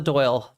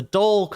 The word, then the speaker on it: Dole: Doyle the Dole, not the Doyle, the Dole um the Dole Corporation.